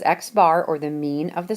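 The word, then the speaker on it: x̄: defined right here as X bar and it's pronounced X bar they are just the total of all the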